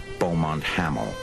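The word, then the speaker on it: Beaumont-Hamel: the top near a village they pronounced bont haml what the new finlanders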